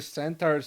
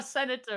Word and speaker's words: centaur: The swing, the satyr's, the centaur's still sort of dodging and just gets nicked. How dexterous is this senator? Centaur, not a senator.